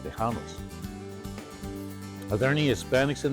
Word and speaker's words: Tejano: Tejano. That guy's winning, by the way, everybody. Tejano. That's how you say Texan in Spanish. All the Hispanics that lived in Texas during the Revolution were called Tejanos.